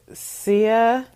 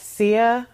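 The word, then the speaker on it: Sieh: so of the gods it is SIA yes SIA that's that's the way I'm gonna pronounce it Naha doth see is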